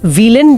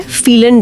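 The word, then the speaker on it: vielen: इसी तरह व्हीलन डांक बन जाता है फीलन डांक।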